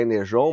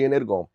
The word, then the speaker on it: Energon: dizem, a pronúncia é Energon, mas para mim G tem som de G e ponto final eu vou chamar de Energon.